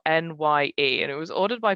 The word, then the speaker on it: Nye: week is it's called the end is nigh uh but that is spelled n-y-e and it was ordered